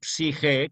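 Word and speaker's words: psique: Psige con PS, que es una consonante griega, por eso conviene siempre no omitir la P cuando empleamos palabras, claro que a veces da pereza pronunciarlas, pero cuando escribamos, que no omitamos la P antes de la S, porque es psi, la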